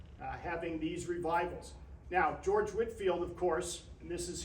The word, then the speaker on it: Whitefield: pushback you're saying Winfield it looks like Whitefield it does doesn't it it is pronounced Whitfield though any idea who the